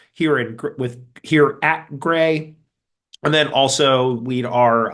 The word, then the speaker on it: GREI: repository ecosystem initiative uh or gray as we like to call it um because you always need a pronounceable acronym um what is gray